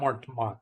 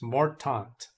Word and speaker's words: Mortant: Actually, I keep pronouncing Mortmont. It's not Mortmont. It's Mortant.